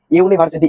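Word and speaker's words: university: ইউনিভার্সিটি ইউনিভার্সিটি। ইউনিভার্সিটি। ইউনিভার্সিটি। যেহেতু এখানে ইউ এর উচ্চারণ কার মত আসছে বলতো? ইউ এর উচ্চারণ ইউর মত আসছে।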